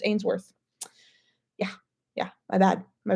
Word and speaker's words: Ainsworth: I always say Trip Ainsworth. His last name is pronounced Ainsworth.